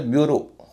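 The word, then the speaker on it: bureau: तो ब्यूरो, ब्यूरो में EAU का उच्चारण हो रहा है ओ, ब्यूरो।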